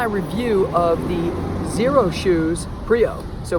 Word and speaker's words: Prio: this is my review of the zero shoes pre oh so prio from zero suit spelled with an X first off I just want